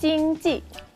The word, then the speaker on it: 经济: Ekonomi bahasa Mandarinnya Jingji.